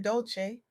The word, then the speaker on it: Dolce: As Leanne Dolce, pronounced dolce, like sweetness, whispered in French, often reminds us soft girl era, is the sacred pause black women have been waiting for.